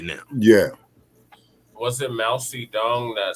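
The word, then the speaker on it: Mao Zedong: the River Dance right now yeah was it Mousie dong that said no inves mous Tong is the correct pronunciation mous Tong mousy Tong yeah what about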